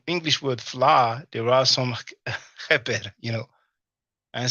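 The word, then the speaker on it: kheper: Now, many of you know cheper, or many people pronounce it keper because the ch is a sound that doesn't exist in the English or the French language.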